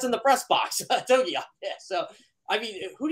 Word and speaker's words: Togiai: Togiai. They can't even pronounce in the press box. Togiai.